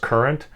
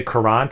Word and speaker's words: currant: how to pronounce it according to Google it's just pronounced current uh I I've heard people say currant so I I think uh maybe myself included we're trying to over pronounce the word but uh black currant